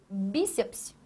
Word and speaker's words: bíceps: Bíceps palavra cuja tonicidade está aqui, ó, bi. E veja que não é a última, é esta daqui, a anterior. Então aqui você tem apenas uma o quê? Paroxítona. Esta palavra é uma paroxítona.